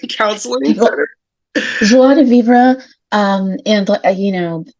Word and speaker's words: joie de vivre: Joie de vivre. And, I'm sure that the French would pronounce it even a little bit differently than that, but you're close enough, Charles.